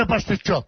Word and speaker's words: pasticciotto: But he just said, though, pasticciotte. That's how you say it. Pasticciotte, you. He said pasta I don't say pasticciotte, I say pasticciotto.